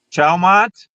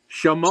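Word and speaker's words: Chaumont: Um, Chalmont. Not even close. Chayumont. No. Chameau. Chayumont. Chameau. Chameau. Chameau. Chameau. Chameau. Chameau. Is that T is silent? Like MOW. Mo. Chameau.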